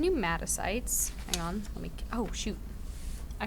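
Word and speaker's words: pneumocytes: And so your type 1 and type 2 pneumatocytes, the P is silent, sorry.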